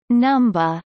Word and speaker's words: Numbuh: Following a period of training, every member of the Kids Next Door chooses a number or alphanumeric code, deliberately pronounced and spelled as Numba, and is sent to a sector that acts as their home base.